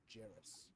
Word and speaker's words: Djarus: Jairus. That's DJARUS. Jairus. The D is silent.